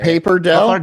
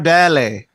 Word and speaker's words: pappardelle: It's easy until you have to try to say Paperdelle? Pappardelle. Oh, pappardelle. You guys are Pappardelle is overcomplicated. It's Paperdelle. Pappardelle is the Royce.